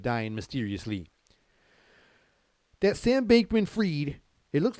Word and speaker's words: Fried: mysteriously that Sam bakeman freed it looks like he spelled it's spelled like fried I mean I know it's freed everybody said they said it's freed you know but it looks like fried you know sandbankment fried